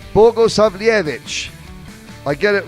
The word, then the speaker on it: Bogosavljevic: What went wrong for Bogosavljevic? Bogosavljevic.